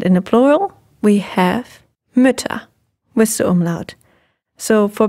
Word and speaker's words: Mütter: And in the plural, we have Mütter with the umlaut.